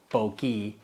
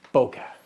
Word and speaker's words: bokeh: e or not so this is a boka it's not a bokei it's boka so the H is